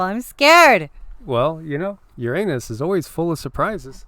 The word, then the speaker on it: Uranus: of the day and usually i pronounce this a certain way but i'm going to pronounce it the other way we have mysterious x-rays that are flaring out of your anus oh my gosh it's